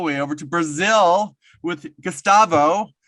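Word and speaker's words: Gustavo: Today we are going all the way over to Brazil with Gastavo, right? Did I pronounce it correctly?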